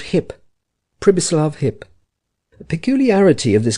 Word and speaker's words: Pribislav: He with whom Hans Castorp spoke was called Hip, Pribislav Hip. The peculiarity of this given name was that you were to pronounce it as though it was spelt Sibislav, and the singularity of